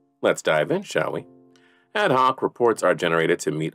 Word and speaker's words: ad hoc: The term ad hoc, sometimes pronounced as ad hoc, means created or done for a particular purpose or as necessary.